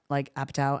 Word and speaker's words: Apatow: writing sense how she teamed up with Judd Apatow and then Yep. that's how you pronounce it, right? Apatow, yep.